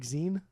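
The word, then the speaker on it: Exene: Like Zine. Okay, that's what I wasn't. Okay. But then her and I on a pretty close basis. I call her Zine or Zini sometimes.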